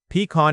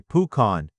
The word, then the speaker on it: pecan: Pecan is a type of nut. and the pronunciation changes depending on the region. Some say pecan, others say pucan.